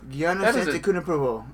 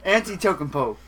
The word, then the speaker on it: Antetokounmpo: Antetokounmpo. Giannis Antetokounmpo. Antetokounmpo. I bet that guy was a nightmare. Antetokounmpo. Yeah. Well, I bet that was a nightmare. Antetokounmpo. Tokenpo? What the fuck? Tokenpo. Antetokounmpo.